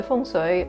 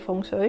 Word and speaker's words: Feng Shui: So Feng Shui, I'm just using the Cantonese pronunciation by the way.